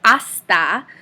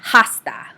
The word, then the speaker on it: hasta: with the letter h the letter h is silent in spanish so we write the letter h but we do not ever pronounce the letter h so we say asta and not hasta okay um bien if